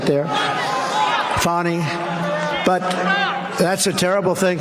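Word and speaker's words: Fani: happening in Georgia with the horrible case of Fanny Willis it's it's actually pronounced fonny it's F A an I but you pronounce it fonny a little French accent there fonny but that's a ter thing but so Meritt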